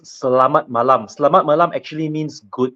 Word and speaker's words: Selamat Malam: This is actually pronounced Selamat Malam.